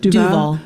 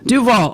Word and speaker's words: Duval: It's us Northerners, right? We don't know how to say these Floridian county names. Sounded very French. Duval.